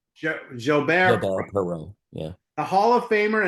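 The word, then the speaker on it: Perreault: Billy, help me with this pronunciation. Gilbert Perau Perau.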